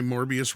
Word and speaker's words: Morbius: been saying it forever there's a reason why morbius rhymes with glorious look regardless we don't